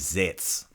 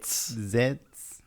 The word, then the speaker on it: zec: The word for rabbit is zec. What? Zec. Zets. Right, Z-E-C. Z-E-C. Zec. Zets.